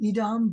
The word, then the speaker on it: Edom: can also mean red it wouldn't be pronounced as Adam it's more likely Edom but so we have